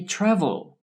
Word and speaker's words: travel: Which syllable is stressed when I say travel? Yes, the first syllable is stressed, the TRA, travel. The last syllable with L at the end is not stressed.